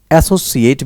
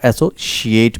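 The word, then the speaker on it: associate: एसोसिएट भी होता है और एसोशिएट भी होता है. It's both.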